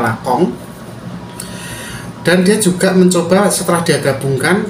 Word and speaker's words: Lacan: di video sebelumnya yang judulnya lacan gitu ya Tapi bacanya lakong dan dia juga mencoba